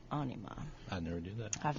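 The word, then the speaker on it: Ænima: their follow-up album anima it's actually got the pronunciation I always say enema but apparently it's anima I never do that I've messed that up yes 1996.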